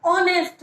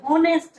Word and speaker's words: honest: Mohan is एन ऑनेस्ट बॉय, क्योंकि आप ऑनेस्ट बोल रहे हो, होनेस्ट नहीं बोल रहे हो।